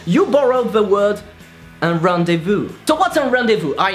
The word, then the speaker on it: rendezvous: if you don't know how to pronounce this magnificent sound nothing easier than that just take a pen and shove it in your mouth not like that like that rendezvous Ohio and you have it okay number two because